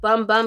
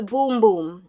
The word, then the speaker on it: Bum Bum: the boom boom cream i used to call it bum bum so sold asian arrow like they just got so sick and tired of people calling it bum bum because it's spelt b-u-m so you know bum bum but it's boom boom okay so y'all this